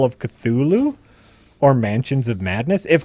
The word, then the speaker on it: Cthulhu: Do you guys say Cthulhu or Cthulhu? Cthulhu. I say Cthulhu too. That's what it is, right? I've heard two people separate from each other while discussing it call it Cthulhu. I've always heard it called Cthulhu. And it is TH.